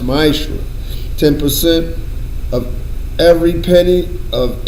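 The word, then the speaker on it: מעשר: It means tenth in Hebrew is pronounced ma'ashra.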